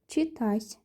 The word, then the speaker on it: читать: How do you pronounce it? It's читать.